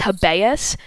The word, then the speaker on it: habeas: i think it's pronounced habeas but i think it's latin the hebeas corpus act